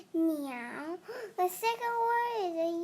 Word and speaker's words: 鳥: Bird pronounced meow.